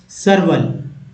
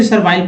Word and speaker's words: servile: Next word देखिए, ये है सर्वल। सर्वल, कुछ लोग सर्वाइल पढ़ देंगे, लेकिन गलत है, सर्वल पढ़ेंगे।